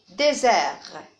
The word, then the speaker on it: désert: Désert, désert, 2 syllabes. Lézard, deux syllabes. Fusil, fusil, 2 syllabes. Et attention ici, on a T ne se prononce pas. C'est une lettre muette.